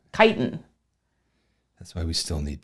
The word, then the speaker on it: chitin: Chris Seidel very helpfully has corrected my pronunciation of chitin not chitten look I applied the Google and it did not treat me right chitin that's why we still